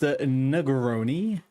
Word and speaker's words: Negroni: Uh, it's called, it's pronounced Negroni, and it is one of the most delightful cocktails you can have in the world.